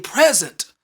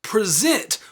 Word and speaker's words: present: For example, if you stress the first syllable in this word, it would mean present, which means a gift. But if you were to stress the last syllable in this word, it would mean present, which means to demonstrate or to show.